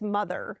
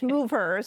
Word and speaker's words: MovHER: Some people say it's mother. It's not mother. It's MovHER. So it's MovHER.